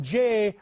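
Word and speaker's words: Jeh: it we hear from Jay rhymes with may Johnson it's those Russians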